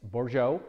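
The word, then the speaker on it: Bourgeault: by Cynthia bore Joe if you're looking at the Spelling you'll notice it's French so I really have no idea how the French pronunciation and spelling work together I just know that it's bore Joe and you can look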